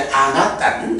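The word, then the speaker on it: anattā: 그래서 앞단에다가 아를 붙이는데 발음 관계상 안 해서 이제 아나딴 이렇게 되고요.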